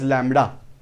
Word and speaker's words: lambda: This letter is pronounced as lambda.